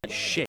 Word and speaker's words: Shake: Apologies to Methodist fans and Bronson Jake fans. We were mispronouncing, and of course by we I mean me was the only one that mispronouncing it. Bronson Shake, number 2.